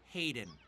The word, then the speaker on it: Hayden: Hey, Frieden. It's Hayden. We know Frieden. Do you? You keep saying it wrong.